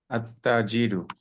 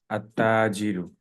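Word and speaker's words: التاجر: যদি প্রথম শব্দের প্রথম বর্ণটা চন্দ্রবর্ণ হয়, তাহলে আলিফ লাম যুক্ত করলে লামের উচ্চারণটা হবে, সূর্যবর্ণ হলে হবে না।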